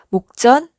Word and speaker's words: 목전: 목전이라고 읽어요. 목전 맞죠?